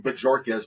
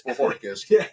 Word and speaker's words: Bohorquez: They'll probably tell you Bajorquez, but it's Bohorquez.